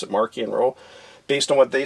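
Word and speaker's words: Marchion Ro: by the authors and they wanted it pronounced with a k so it's got more of a hard edged sound to it so i pronounce it marquee and row based on what they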